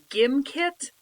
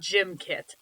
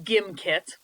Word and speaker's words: Gimkit: of the site himself it is pronounced gimkit not gymkit so there's no gif jiff debate on this it is pronounced gimkit and gimkit is a